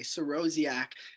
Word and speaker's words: Sorosiak: s o r o s i a k siroziak and again i have a facebook i have